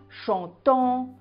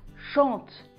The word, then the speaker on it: chantent: ne prononce pas en on ne dit pas chantant ou dansant ça se prononce chantent dansent le nt ne se prononcent pas on va maintenant passer